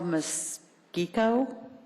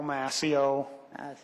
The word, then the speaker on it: Mascio: Mosquico. And you are not in favor, but you would like to speak. Come down and correct my pronunciation. It's Mascio, 7472 South Utica Street in Meadowbrook.